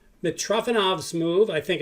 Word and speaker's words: Mitrofanov: The best move, which is one of the most famous moves in history, which is called Mitrofanov's move, I think it's called. Let me make sure I'm pronouncing that right.